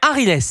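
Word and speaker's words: Aghiles: On est avec Arilès, exactement. Arilès. Ah, c'est un joli prénom, Arilès. C'est de quelle origine? Bonjour, Arilès. Bonjour, je suis algérien. Alors, ça s'écrit A-G-H-I-L-E-S. Arilès.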